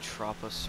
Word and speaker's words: Tropos: This time we're going to be doing the Lampadati Tropos Rallye, which is actually pronounced Tropo.